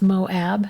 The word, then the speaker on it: Moab: But it's Moab, not Moab.